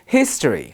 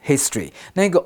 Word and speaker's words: history: 好像历史这个字呢，我们有两种发音，可以变成 history 或者 history。那个 o 的那个母音呢，可念可不念，所以我们可以念成 history 或 history。那例句里面提到了这个国家有试图夺取其他国家的历史。然后回到课文呢，文章中就说了，Aaron 说，没错，军方在这个地区有意义重大的历史。好，这边我们要小心了，significant 这个字有点长，它是当形容词用，它可以表示重要的或者是意义重大的。那如果你把 significant 当成重要的，其实就跟你们熟悉的 important 用法差不多是一样的哦。